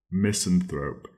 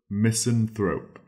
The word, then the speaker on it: misanthrope: and it is misanthrope misanthrope it is spelled m i s a n Miss t h r o p e thrope missen thrope and a miseno is